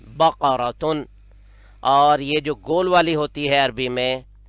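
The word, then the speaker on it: بقرةً: پاس ہے، اس کو صحیح دوبارہ تلفظ سنیے، بقراتن، قاف کاف نہیں ہے، بقراتن۔ اور یہ جو گول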